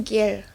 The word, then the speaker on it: gear: c-nya menjadi huruf ih jenuhnya tulisannya gear diucapkannya gir gir dan vokal e&a dalam